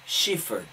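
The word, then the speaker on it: Schäfer: want to say that let me pronounce his name correctly because he has a German last name Thomas shivered 54 years old was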